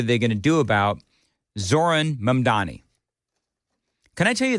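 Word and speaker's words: Zohran: Lord, I know that if you just take the H out of the first name, you'll you'll look when you look at it, you'll be able to say it better.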